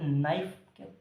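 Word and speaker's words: knife: का यूज करते हैं इस के का यूज हम नहीं करते के साइलेंट रहेगा साइलेंट रहेगा के साथ में आता है आपके सिर्फ वर्ड बनाने के लिए ठीक है किसके किस लिए आता है वर्ड बनाने के लिए आता हैट मीन ये के साइलेंट रहेगा तो के साइलेंट तो बाकी पढ़ेंगे नाइफ क्या पढ़ेंगे नाइफ तो नाइफ है इस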